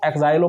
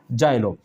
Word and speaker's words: Xylo: अगर इस प्रकार से लिखा हो सकता है होगा तो आपको इसको जा में उच्चारण करना है। किसमें? जा में। तो आप इसको बोलोगे जोलो और इसको बोलोगे जाइलो।